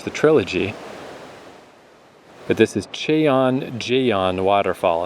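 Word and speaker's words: Cheonjeyeon: But this is Chon Jon Waterfall. And if that sounds exactly like the name of all the other waterfalls, very good. Good job. It's spelled slightly different. C H E O N J E Y E O N.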